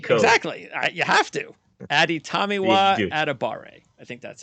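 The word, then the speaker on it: Adetomiwa Adebawore: Adetomiwa Adebare.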